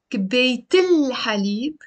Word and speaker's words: كباية الحليب: Notice also I pronounce the L before حليب because the letter ح is a sun letter, حرف شمسي, which means we have to pronounce the lam.